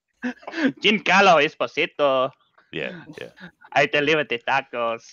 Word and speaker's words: Giancarlo Esposito: Wow, you mispronounced his name horrible. His name is Giancarlo Esposito. Giancarlo Esposito.